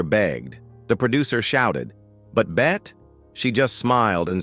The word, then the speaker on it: Bette: Davis but chose to pronounce it with just one syllable. Bet.